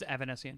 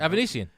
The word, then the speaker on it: Avanesyan: It's Avanesyan. Yes. I don't want to again. Avanesyan. David Avanesyan.